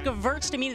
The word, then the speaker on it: Gewürztraminer: It's Gewürztraminer. The W is a V, right?